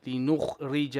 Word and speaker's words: لنخرج: لنخرج به. لنخرج به. You're saying you are saying ja. Jim fatha is ja, not ja.